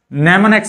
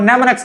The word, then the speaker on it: mnemonics: mnemonics में m जो है वो साइलेंट है।